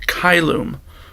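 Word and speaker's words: caelum: in the word City in Latin the sea is always hard we've learned words like kyloom which is heaven or clamo I shout always a hard C never a soft C another consonant that's different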